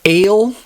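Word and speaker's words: אֵל: gibor or El gior if you want to pronounce the um markings under that a little bit more accurately L is how most people say it commonly as in Elohim El gior but truly ale like the drink a l e ale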